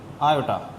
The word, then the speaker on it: iota: So now I will discuss the origin of this I, which will be pronounced as iota.